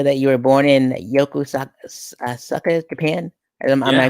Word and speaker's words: Yokosuka: So it says in your bio that you were born in Yokosuka, Japan. Am I Yeah. pronouncing that right? I call it Yokosuka.